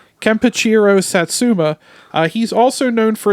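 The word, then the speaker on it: Kenpachiro Satsuma: actor who portrayed Godzilla as I said was kachir damn I it up after I did all that all all that well like pronouncing his name kachiro Satsuma uh he's also known for his performances as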